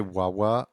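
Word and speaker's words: ワンワン: Every time you say Wawa, I think of what I call my dog nickname. I call him Wan Wan. The N is silent, as it's the dog's bark sound in Japanese.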